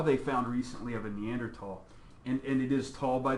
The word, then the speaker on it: Neanderthal: found recently of a Neanderthal and it is tall by the way there's no you don't pronounce the H just as a heads-up it's because it's German for valley it's me it's the